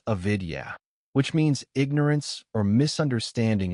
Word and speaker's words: avidya: The first is avidya pronounced avidya which means ignorance or misunderstanding of reality.